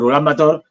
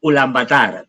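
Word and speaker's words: Ulaanbaatar: The most pronounced to the Mongolians would be like ulan batar. But well, poorly pronounced because they have a kind of long vowels, no. But Well, they change it a little, but well, that's like the center, in fact.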